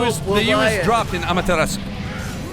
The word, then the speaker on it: Amaterasu: He had $20 bills saying, the U is dropped in Amaterasu. The U is dropped. Yeah, it's there, but it's got a hitch. It's very, very hard to hit.